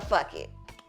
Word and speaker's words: Phuket: Because where is the H in Phuket? A lot of this stuff is silent. Yeah, exactly. So it's a silent, and so the PH is a.